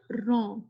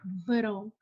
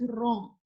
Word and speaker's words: wrong: like the word raw here w silent we read this word wrong not vero the sound of W is it is not virome it is wrong same like this word